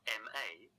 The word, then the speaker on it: 骂: Using the same syllable ma, but adding the fourth tone, gives it the meaning to scold or to curse.